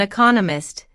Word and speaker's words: economist: Dr Smith is an economist notice the stress on Economist this content word has new information so it is emphasized there are four syllables in Economist with the stress on the second syllable economist he just finished